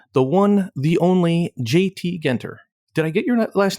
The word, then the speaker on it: Genter: It's Genter. As my grandfather would always joke, there's good, there's great, and then there's Genter. And so that's the way of remembering how to say it, but also kind of